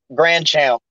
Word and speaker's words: Grandchampt: Grandchild. Yes, the T is silent.